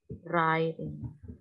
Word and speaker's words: writing: Writing poems atau poetry writing. Jadi writing itu W-nya enggak dibaca.